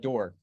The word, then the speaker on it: Doer: Comment of the week: Sherry Doer. Is that how you pronounce it? Oh, that's my grandmother. Aw. It's pronounced Door.